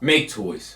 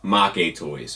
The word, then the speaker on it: Maketoys: today's discussion which is make toys or as they are supposed to be pronounced ma Kade toys which is a play on words of it looking like make toys for a Western audience and meaning like demon